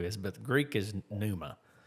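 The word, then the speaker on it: pneuma: Well the Greek is numa. I don't I'm not sure what the Hebrew is, but the Greek is numa.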